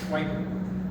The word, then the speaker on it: Sheckard: Now, that's not the good German pronunciation, but that's the phonetic pronunciation, Sheckard.